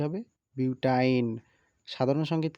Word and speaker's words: বিউটাইন: আমরা দেখতেছি নামের উচ্চারণ এই শ্রেণীর যৌগের নামের শেষে আইন উচ্চারিত হবে যেমন ইথাইন পেন্টাইন যৌগ দেখে চেনার উপায় কার্বন ও কার্বনের মাঝখানে একটি ত্রিবন্ধন অর্থাৎ সি ট্রিপল বন্ড সি থাকবে যেমন বিউটাইন এক দুই তিন চার